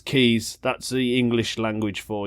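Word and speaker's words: Quays: he said you was it was in the quaz he said I had to pause the podcast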